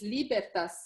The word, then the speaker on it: Libertas: when you started this the right way to say is libertas so really libertas institute bertha